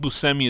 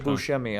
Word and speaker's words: Buscemi: doing is he nuts I think busemi is like how he actually pronounces because it's like some more Italian thing I've always said buschemy I don't know I might be wrong um but yeah he